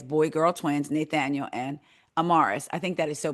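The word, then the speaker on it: Amaris: Um, and it's spelled A M A R I, and the little girl's name is spelled A M A R I S.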